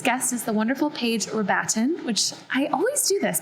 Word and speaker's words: Rabatin: enjoy this week's guest is the wonderful page we're batting which i always do this that is the correct pronunciation of your last name right paige yes